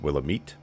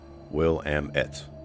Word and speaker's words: Willamette: differently is it pronounced willow meat will am it like three chunks will and will i